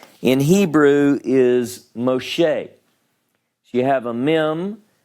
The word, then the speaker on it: Moshe: In the case of Moses, his name in Hebrew is Moshe.